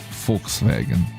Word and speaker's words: Volkswagen: By the way, I wanted to tell you that Germans pronounce the word Volk well. Yeah, Volkswagen like folkswagen. Folkswagen. So with F. German V basically sounds like English F.